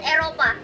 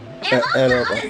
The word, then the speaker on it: Eropa: In Indonesia, we call it Eropa. Eropa.